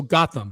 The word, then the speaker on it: Gautam: All right, Gotham, Gautam, Gotham, and I'm assuming Gotham is a he, says it's pronounced like Gotham City, LOL. Okay, so Gotham.